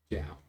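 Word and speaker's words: Djau: Oh, Oh, sorry, no, that's how it's pronounced. D-J-A-U is how it's J-O-W will be fine. Zhao.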